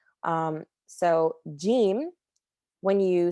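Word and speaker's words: ج: a jelly button um so it has a j sound the way that you would say in jelly um so gim when you say it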